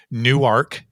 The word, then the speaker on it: Newark: I was just in Newark Delaware and I'm saying it correctly it's not Newark New Jersey it's new ark Delaware and we've been working with